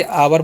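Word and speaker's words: hour: अब एच ओ यू आर है तो इसे हावर नहीं पढ़ते हैं। ओ यू का च होता है। इसलिए आवर पढ़ते हैं।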